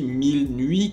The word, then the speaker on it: MYLNUI: Jer qui se nomme je crois qu'on le prononce ainsi 1000 nuit car ça s'écrit my y L N u i ok donc 1000 nuit